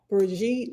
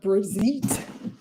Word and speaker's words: Brigitte: Y'all already upset because I say Breijit instead of Brezite.